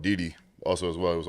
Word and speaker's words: Didi: It's Diddy? Didi. Didi.